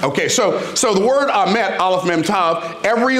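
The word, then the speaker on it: אמת: So the word for truth in Hebrew is the word amet. And amet is spelled Aleph Mem Tav. Now, there are a whole lot of things about that word that are interesting. One, it sounds, amet sounds like what? Amen.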